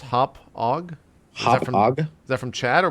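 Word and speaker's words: Hauppauge: uh confirmed it's pronounced hop ag.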